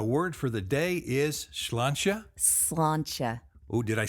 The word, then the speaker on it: sláinte: Sláinte is probably the most common pronunciation in Ireland, although you will hear sláinte. Can you hear the difference? Sláinte, sláinte. Yes, Yeah. just very slight. Very slight.